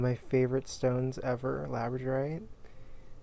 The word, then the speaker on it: labradorite: my favorite stones ever labradorite it's pronounced just like the dog labrador and the night and